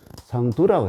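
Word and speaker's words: 桑土: 시경이 이르기를 뭐라고 그러냐면, 태천지미의무 철피상, 토가 아니고 여기 발음이 틀렸네요. 상두라고 해야 됩니다.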